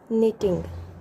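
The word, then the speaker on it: knitting: Next है हमारा यहाँ पे के साइलेंट है. NITTING. निटिंग. निटिंग मीन्स क्या होता है.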